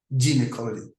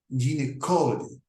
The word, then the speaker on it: gynecology: The word gynecology is usually pronounced with a hard G, gynecology, in the United States. But in many areas of soft G is used, as in gynecology.